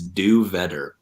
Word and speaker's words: Do Vetter: My last name is Do Vetter. It's like do better, except with a V.